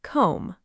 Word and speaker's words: comb: Pronouncing it comb, no B sound.